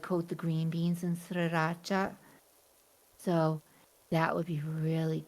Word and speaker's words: sriracha: Southeast Asia say it properly, sriracha.